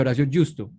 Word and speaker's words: Horacio Justo: Hoy estamos con Horacio Justo, así se pronuncia Horacio Justo.